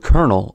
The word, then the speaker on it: colonel: The word colonel also has the R-colored vowel as it is pronounced colonel.